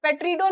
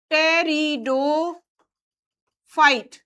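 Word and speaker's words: Pteridophyta: पी यहां silent है। पेट्रिडो नहीं पढ़ देना। ठीक है ना? पी साइलेंट रहेगा। टेरिडो फाइट।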